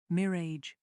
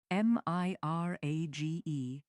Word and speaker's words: mirage: Mirrage and marage. M I R A G E is pronounced mirage, said Valency shortly, picking up her tea and her beans.